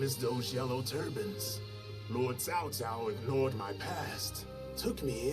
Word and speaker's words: Cao Cao: C'est pas cacao, sans au pire, ça aurait été cao.